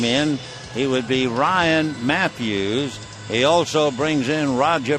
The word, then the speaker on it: Matthews: the ninth inning Ryan Matthews spells it with a u but it's still pronounced Matthews he's from Elk Grove